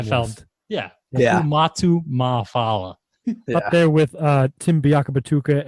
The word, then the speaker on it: Ma'afala: I like that you nailed that pronunciation on the first go too. Dude, Fumatu I've Ma'afala.